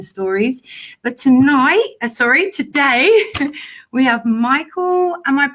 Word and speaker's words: Micheal: But today we have Micheal, am I pronouncing it right?